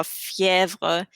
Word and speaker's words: fièvre: If you have it on the letter E, it changes its pronunciation to like E. For example, crème, crème. It's like an EH sound almost, or fièvre.